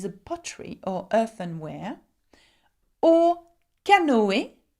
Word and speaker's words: canoë: Or canoë, canoë, okay, and canoë means canoeing, okay, and you can see that I'm pronouncing the O and the E very differently because it has a tréma on top of the E, okay.